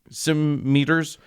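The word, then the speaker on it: cimeter: actually it turns out are it it's so it's spelled C I M E T E R Sim meters uh which is an alternate spelling for scimitars uh which is a sword.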